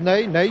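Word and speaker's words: Ney: le jeune avant-centre brésilien Nay cela s'écrit comme notre maréchal mais ça se prononce nait que voici sur votre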